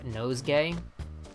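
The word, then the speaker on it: Nosegay: isn't around anymore named nose gay and when I say nose gay I mean it's spelled exactly how you assume the word nose gay is spelled nose and gay g-a-y why they translated his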